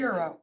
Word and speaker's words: Ruggiero: Ruggiero? No, Ruggiero. Ruggiero, Ruggiero. with attitude. Three syllables. Ruggiero. Ruggiero. 3 syllables, Ruggiero.